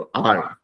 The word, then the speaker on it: our: OUR जो है उसको भी आवर बुलाते हैं, लेकिन उसका प्रोनाउंसिएशन करते हुए थोड़ा थोड़ा शॉर्टकट में बोलते हैं उसको आर।